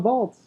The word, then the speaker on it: Waltz: okay well it's christoph vaults with a V cuz that's how you pronounce it in German actually if his name